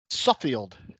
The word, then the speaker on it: Suffield: Suffield.